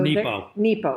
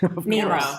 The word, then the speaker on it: Nepo: So Nepo. Mark Nepo. Did I say it wrong? Nemo. I said Nemo.